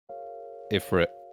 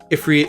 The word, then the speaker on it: Ifrit: Ifrit, also spelled Efreet, like E-F-R-E-E-T. No one spells it like that. It's Arabic. Alright, well, Ifrit. No. Yeah, cope. Literally, the other way to say it is, like, phonetically what I'm saying.